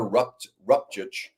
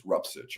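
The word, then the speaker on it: Rupcich: Rupchich, I think it's Rupsich. I keep saying it wrong.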